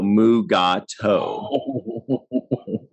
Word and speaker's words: Mugato: have to sound it out and say no mugato yeah it's not not an everyday word so